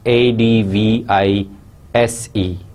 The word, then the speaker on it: advise: must have come across another word which is a d v i s e and it is pronounced as advise so i hope you know